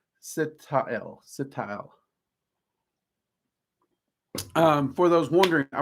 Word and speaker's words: Sitael: So, yeah, I want to say SIT-AH-ELL, which I think is a freaking candle. But it's SIT-AH-ELL.